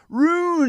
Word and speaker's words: ruin: Ruin it for people who don't use the eye. Ruin is 2 syllables, by the way.